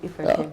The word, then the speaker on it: Ifreke: Did I pronounce that right? Yes, you did, Ifreke.